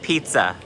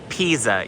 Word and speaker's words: Pisa: Oh, look, Joseph's gonna push over the Leaning Tower of Pizza. I mean, Pisa. Yes, I said it wrong on purpose.